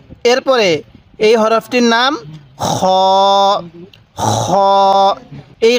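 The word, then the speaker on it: خ: বের করব হা এরপরে খ খ এই খ টা উচ্চারণ করব আমরা আমরা গলার যেখানে গড়গড়া করি কুলি করার সময় এই সেই জায়গা থেকে আমরা খ এরকম ভাবে উচ্চারণ করব এরপরে দাল দাল এই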